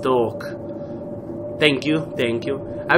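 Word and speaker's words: Toque: um one commentary commenter said that this is pronounced talk thank you thank you I wish I could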